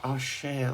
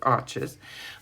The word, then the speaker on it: Arches: it was um archers I know arches should be pronounced or share or something but I am not quite sure of the pronunciation so I just go with arches but it's very good